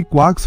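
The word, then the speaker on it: quark: Three क्वार्क्स फॉर मास्टरमार्क। क्वार्क शब्द क्वार्ट जैसा pronounce होता है लेकिन के साथ। लेकिन आमतौर पर लार्क जैसा बोला जाता है।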